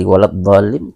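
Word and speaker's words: وَلَا الضَّالِّينَ: Maka cara bacanya dhalin. Nah, ditasdidkan dengan li, ya, ditekan lin, ya. Jadi cara membacanya waladhdallin.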